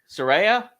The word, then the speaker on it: Saraya: Saraya?